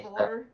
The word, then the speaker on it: Eivor: Yeah, the E in my name is actually pronounced as an A, not an E. So it's like A. Eivor. Eivor. Eivor? Okay, Like, Eivor. drop the I, pronounce the E as an A. Eivor. Yeah, Okay. the I's silent.